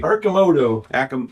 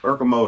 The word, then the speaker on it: Arcimoto: So how do you manage it when it's time to put your pronounce that for me. Arcimoto. Arcimoto.